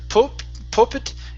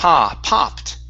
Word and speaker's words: popped: Uh this word here instead of pop pit, it's p popped. Popped.